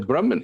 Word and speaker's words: Brahma: Oftentimes we'll say Brahma Ji. So it's Brahma, a long A at the end, and then Ji, meaning sir.